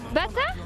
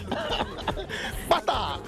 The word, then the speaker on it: pata: Bata? Non, pas bata, hein. Pata. Pata.